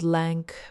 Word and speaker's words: LAANC: There's also something called LAANC, pronounced like Lance, which is an automated system that can approve airspace access in seconds for pilots in controlled zones. LAANC is genuinely cool because